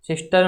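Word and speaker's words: sister: सिस्टर में ये र का साउंड साइलेंट होता है, तो इसका फोनेटिक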